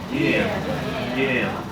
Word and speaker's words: Geena: O gama tem som de G. Geena.